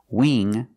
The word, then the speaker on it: wing: beans thing and think use the long e sound not the short I they're different so when you see words like Wing sing and bring you see the combination of ing you know it's a long e sound like green bean listen to the sound Wing sing bring that's a long e not a short I now let's look at